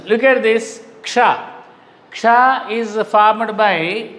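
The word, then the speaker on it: क्ष: Ka, sha, ksha. So this is formed of two letters. That's the reason it should be pronounced as ksha.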